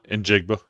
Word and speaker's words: Njigba: I can't I've never been able to pronounce that. Injigba.